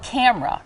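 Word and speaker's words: KAMRA: It's called Camera, right? It's spelled K-A-M-R-A. How does this work? So Camera is great. It acts like a camera, So think about that.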